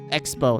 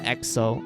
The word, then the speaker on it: Expo: Wait, Expo, not EXO.